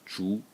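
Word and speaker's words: 竹: And the semantic element is this part at the top, which is pronounced zhu, and it's bamboo.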